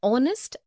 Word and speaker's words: honest: also an air an honest an hour because the words air honest and our begin with the vowel sound as the initial consonant h is not pronounced article 1 we use